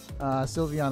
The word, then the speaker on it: Sylveon: how you're saying it sylveon you pronounce it civilian I was pretty cool it sounds like civilian like like it's just a random civilian Pokemon but sylveon I believe has already been like stated to be the proper pronunciation for it I remember all the